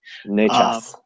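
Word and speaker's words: Nečas: Did I pronounce that right, Mr. Levy? Necas.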